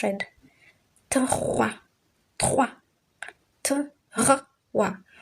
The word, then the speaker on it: trois: Trois. Trois. Wa. O and I brings about the pronunciation wa.